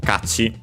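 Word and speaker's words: 価値: So uh yeah actually this one is one of those which is actually uh accented on the first syllable. So be careful. So kati it means uh value uh and by extension also worth merit.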